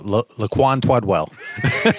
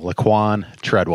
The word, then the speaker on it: Laquan Treadwell: him after drafting him, said, what was it, Laquan Twedwell. So it was kind of like Elmer Fudd up at the podium. So I get a kick that people have a hard time pronouncing Laquan Treadwell.